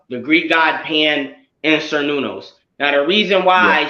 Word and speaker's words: Cernunnos: he's in is inspired by the Celtic god Cernunnos. I think I'm saying his name. I don't know if it's pronounced. Yeah, I got it right here. Cernunnos right here. Yeah, here you go. Cernunnos, yep.